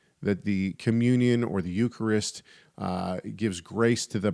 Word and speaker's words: Eucharist: are participating in the Eucharist you I put the wrong emphasis on the wrong syllable anyway when you uh when you are participating in the Eucharist you're actually ingesting the